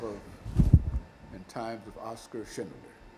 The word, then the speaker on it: Schindler: The life of and times of Oscar Schindler.